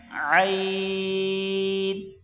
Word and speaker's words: عین: گے، قا، ضا، ضا۔ اگلا حرف جو ہے گلے سے نکلے گا زور لگا کر، عین، عین۔ اس کو بغیر زور کے عین عین پڑھ لینا قرآن پاک کے تلفظ اور تجوید کے خلاف ہے۔ بالکل صحیح طریقے سے اس کی مشق کر کے گلے سے نکالا جائے، عین، عین۔ اگلا حرف غین، غین۔